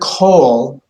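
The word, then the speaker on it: כל: of those situations where the Comets actually has an o sound um and rather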